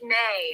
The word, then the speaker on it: Mae: Or Mai. How do you pronounce it? Hey, Gary, good morning. It's May.